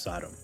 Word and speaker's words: Sodom: Technically, it's pronounced Sodom.